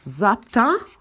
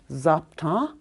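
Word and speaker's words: zápta: fluent speakers we have zapta your a is nasalized at the end zapta some people add an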